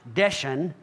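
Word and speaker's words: דשן: Southern draw strong number 1880 the word is pronounced desan and it's translated as fat ashes don't why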